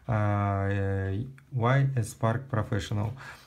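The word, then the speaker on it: Y.S. Park Professional: за это дизлайк, но теперь я буду говорить правильно YS Park Professional. Вот, перед всеми извинился, все честно, так что продолжаем. Значит, смотрите, я хочу вам презентовать новую расческу от компании YS Park Professional.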